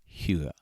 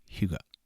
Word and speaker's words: hygge: find other pronunciation guides the closest i can come is hugo it is spelled differently than it sounds somehow it is spelled h y g g e now you might be